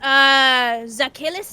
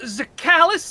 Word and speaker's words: Zakhalis: Next, Zakhilis, is that how you pronounce it? I'll have you know that it is pronounced Zakhalis Laragast, and you're making a terrible mistake here.